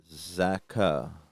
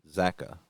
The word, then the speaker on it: Zacha: Pavel Zacha. The pronunciation is "ka" has got the accent. Paka. Zacha. Yeah, so Pavel Zacha. Zacha. Yeah, I never was really good at that, so I think it's Zacha.